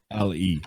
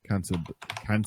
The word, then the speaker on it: cantabile: Well, I spell it if you want. Cantabile. There we go. Cantabile.